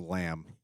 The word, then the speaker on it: lamb: are going cheap cheap which is a lamb for anyone confused silent B laying flat yeah yeah